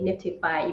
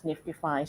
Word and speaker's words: NFTify: spelling is NFTIFY. But then, we say Niftify, even though I know that there's some other projects that, maybe pronunciated very similarly. Yes. Understood. Understood. So Yes. Niftify, but you know, usually say it as Niftify.